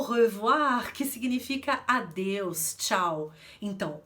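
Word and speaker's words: au revoir: também na palavra o revoar o revoar que significa adeus tchau então Oi francês tem som de ou a como no utilitário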